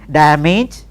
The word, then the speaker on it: damaged: managed code page see damaged carriage like that no this managed then da ma GE damaged damn each then we have Co